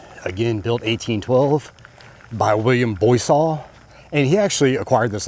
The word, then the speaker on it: Boisseau: And, okay, and the Boisseaus lived here. They're French Huguenots. I was wondering about that name. It's pronounced Boisseau.